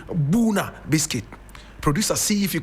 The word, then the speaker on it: Bouna: Now, when you go to the Ivory Coast, there is a small town there called Buna.